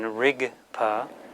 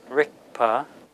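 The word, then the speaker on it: རིག་པ: Again, ga can be pronounced as a final G, as in rigpa. Some people will say rikpa, rikpa. Some people will say ritpa.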